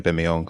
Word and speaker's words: Aubameyang: uh pierre-emerick aubameyang uh shout out to adriana bimiong that's how you pronounce his last name yeah we actually watched